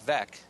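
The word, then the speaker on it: Veeck: And among his other books are Fun is Good with Mike Veck. Of course, you all baseball fans know that rhymes with wreck.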